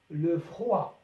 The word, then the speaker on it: froid: le froid حرف الدي لا ينطق في الأخير البرد le froid.